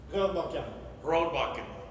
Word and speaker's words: Rørbakken: Rørbakken.